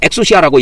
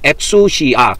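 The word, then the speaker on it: ἐξουσία: 그래서 이걸 엑수시아라고 읽습니다. 엑수시아. 그렇게 읽어요.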